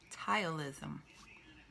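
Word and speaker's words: ptyalism: With both of my pregnancies, I went through something called thylism. It's spelled thylism. It was P-T-Y. It starts with a P, but it sounds like a T word.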